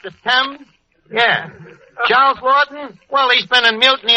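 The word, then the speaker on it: Laughton: Yeah, Lorton. That's how the English spell. Yeah. You know, like the London Times is pronounced as temp. Yeah. Charles Lorton.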